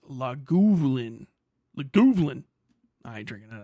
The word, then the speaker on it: Lagavulin: Lagavulin is whiskey, pronounced Lagavulin.